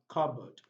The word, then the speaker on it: cupboard: And the two final words also have silent letter P's. We have raspberry, raspberry, and we have cupboard, cupboard. So we've come to the end of the past sound.